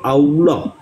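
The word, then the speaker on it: الله: hilang dalam percakapan sehari-hari sehingga alilah diucapkan sebagai Allah jadi kata alilah ini tadi alilah Ini hanya disebut Allah Nah apakah ini Bisa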